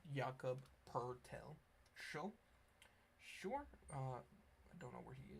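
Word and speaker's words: Jakob Pöltl: Um and yes there is no R in his name but look at the pronunciation. Yakob Pertel show.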